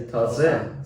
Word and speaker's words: taze: But now we just say taze. So yeah, we drop the hard G.